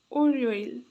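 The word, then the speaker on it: 월요일: Word यसलाई चाहिँ एउटा मात्र उच्चारण गर्दा खेरि चाहिँ ओल भन्छ। ओल भन्छ तर यो सँै उच्चारण गर्दा खेरि चाहिँ ओरियोइल ओरियोइल ओरियोइल ओरियोइल यहाँ उच्चारण पनि लेख्दिन्छु म तपाईलाई ओर यो इल ओरियो इल बुझ्नुभयो यो सोमबारलाई त ओरियल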